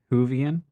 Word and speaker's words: Whovian: you sent correctly say it correctly move ahead Whovian okay thank you dude who is so much